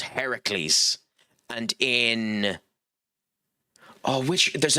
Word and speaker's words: Heracles: Disney have changed the uh the pronunciation of that uh name because in I think in Greek mythology Hercules is Heracles and in Oh, which there's another mythology that he's in.